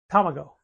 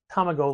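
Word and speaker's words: たまご: I could eat eggs my favorite Sushi was Tomo which is egg and it's tamago like tamagachi right but as an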